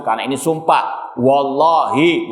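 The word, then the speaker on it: والله: Wallahi, bukan wallahu.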